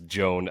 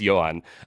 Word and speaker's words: Joan: because I was like there's no way this dude's name is Joan Adon uh and it's not it's Johan uh and he he's